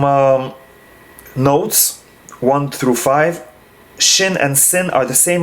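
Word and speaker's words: שׁ: dots and therefore both shin and sin are the same letter and whoever is the torah needs to know how to pronounce it correctly shin is pronounced shay as in shape and sin is pronounced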